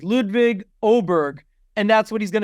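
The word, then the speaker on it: Åberg: the air it's ludvig oberg and that's what he's going to go by Oar I thought it was Oar no it's oberg he said on the video oberg and that's that's what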